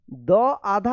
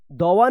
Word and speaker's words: दुआ: है, लेकिन यहाँ पे देखिए द आधा होता है और व पूरा होता है, तब इसको पढ़ते हैं दुआ। दुआ, दवा नहीं पढ़िएगा, दुआ दुआ इस तरह से रहेगा।